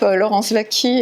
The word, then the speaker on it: Laurence Waki: Enfin, de toute façon, on tape Laurence Vaquie, et donc W-A-K-I, un W qui se prononce V.